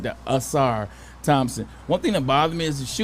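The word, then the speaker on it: Ausar: you say it, I got it right there, Asar Thompson.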